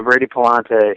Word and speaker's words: Palante: The next D lineman, and help me with the pronunciation of this name, Ace, is it Brady Palante? Yeah, Brady Palante.